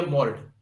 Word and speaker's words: mold: लेकिन यही एक दूसरा लीजिए MOLD, ये हो गया मोल्ड, मोल्ड, यहां जो है एल पढ़ा जा रहा है इसमें, है ना, लेकिन यहां नहीं पढ़ा जा रहा है।